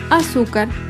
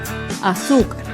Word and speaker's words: azúcar: penúltima sílaba por ejemplo la palabra azúcar azúcar es una palabra grave y se acentúa en la penúltima fila azúcar las palabras graves no